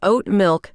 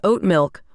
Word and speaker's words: oat milk: I'll like oat milk instead of oat milk with the emphasis on the second word.